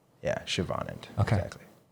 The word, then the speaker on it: Siobhan: Yeah, there's a hidden h. Siobhan. Siobhan. Yeah. And the accent is in the on. Yeah. Siobhan.